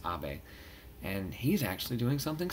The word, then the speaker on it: Abe: Now, this is interesting because the Prime Minister right now is a man by the name of Prime Minister Abe, spelled like Abe, but it's Abe.